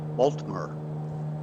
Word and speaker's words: Baltimore: The Baltimore natives call it Baltimore. Baltimore. Lovely two place, syllables.